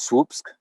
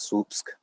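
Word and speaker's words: Słupsk: living in it's called swoops it's it's weird yeah because it's spelled s-l-u-p-s-k so the s and the l is like a woof and then the rest spells that swoops how did you do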